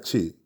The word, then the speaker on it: Twi: En chi, je schrijft in twi, dus T-W-I, maar uitspraak naar chi.